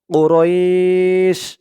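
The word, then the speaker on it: قريش: না এখানে অকফা আছে থামার কারণে ওরাইশ রই বলে এক আলিফ টান দিয়ে শিনকে ধরবে শিনের নিচে দুই জের তানবিন এটা সাকিন হয়ে যাবে এই এক আলিফ টানের নাম হচ্ছে মধ্যে লিন কুরাইশ কুরাইশ লিলাফিশ লিলাফিশ পরের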